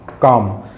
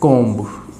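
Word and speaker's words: comb: Friends अगर एम और बी साथ में आते हैं तो बी जो है वो साइलेंट हो जाता है, और हम इसको जब प्रोनाउंस करेंगे तो प्रोनाउंस किया जाएगा कॉम, न कि कोम्ब। अगर आप इसको कोम्ब बोल रहे हो तो वो हो जाएगा गलत, आप इसको बोलोगे कॉम।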